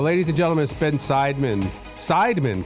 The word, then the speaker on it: Seidman: and gentlemen spin seidman sidemen correct that's how you say it got you nailed it